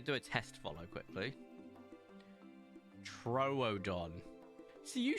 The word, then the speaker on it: Troodon: Troodon.